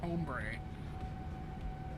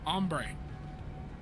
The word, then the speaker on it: ombre: stop you right there the mere fact that you pronounced it hbre tells everyone just uh just how pasty you must be it's damn home bre it's ombre ombre come here have you